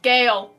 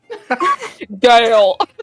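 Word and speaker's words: G'yale: this person's name yes there's way to pronounce it without my accent it's it's pronounced Gail Gail it's it's spelled g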